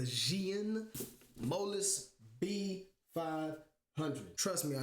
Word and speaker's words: Zhiyun: happened to be the I still want to say Zune but I think it's pronounced the xan molus b500 trust me